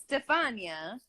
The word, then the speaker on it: Stefania: name yeah whatever Stefania but what they don't know how to like it's Stefania I know it is